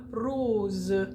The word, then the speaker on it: rose: either side of it often s is pronounced like a z so the word um like rose is going to be rose so when it comes